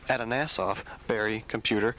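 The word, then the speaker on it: Atanasoff–Berry Computer: Now, can you tell us what is that? And did I say it right? Yes, you did. Congratulations, Brett, because it is a tongue twister.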